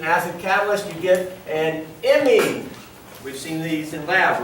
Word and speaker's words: imine: Not amine, or just amine, but it's spelled with an I.